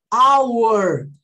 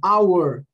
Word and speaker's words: hour: Ah, who could it be at this hour? Vou até escrever isso aqui, guys. Hour, tá bom? É assim que eu pronuncio, tá bom?